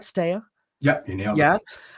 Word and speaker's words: Stea: Is that pronounced right, Stea?